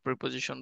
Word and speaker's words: preposition: ঠিক আছে, প্রিপোজিশনের মেইন উচ্চারণ হচ্ছে প্রেপোজিশন।